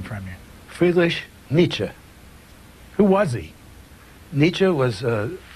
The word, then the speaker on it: Nietzsche: talking about so we can get the correct pronunciation from you foolish Nietzsche who was he Nietzsche was one of the